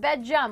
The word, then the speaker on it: Bedjum: Pronounced Bedjum like gum, but with a J.